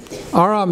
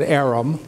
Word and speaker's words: Aram: my name is Aram Aram is an Armenian name AR am AR am my name is Aram or you know Americans are pronounced at Arum my name is Arum my name is Aram